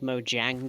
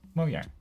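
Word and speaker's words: Mojang: is yeah is and the J is pronounced like a y moang w the a is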